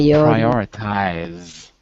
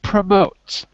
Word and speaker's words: prioritize: for pronunciation say PRI prioritize prioritize that's it prioritize not promote promote means to put ahead prioritize means to make more important so some tasks are more important than others you prioritize them very good